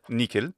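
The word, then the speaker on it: nihil: makes sense to me he could have also said nikhil that's another variant in ecclesiastical pronunciation to make the h k sound in words like nikhil and Niki just a variance though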